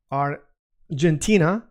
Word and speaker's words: Argentina: Same thing uh with uh the word, for example, um Ar- gentina or Argentine, how do you say it? In Spanish is Argentina, Argentina.